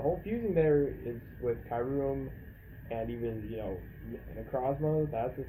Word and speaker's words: Kyurem: Um, actually, no, it is Kyurem, not Kyurem, because it's spelled not Kai, Kyurem. So it's Kai Kyurem, Kyurem. Yeah, like Kyubi or Kyrie.